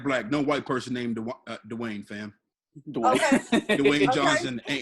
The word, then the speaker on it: Dwayne: Just one word. Dwayne. Dwayne. Yeah. One syllable. Yeah, Dwayne. one syllable, dog.